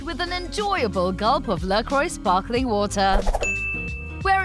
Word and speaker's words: LaCroix: LaCroix. The pronunciation of this well-loved brand has also baffled many consumers over the years.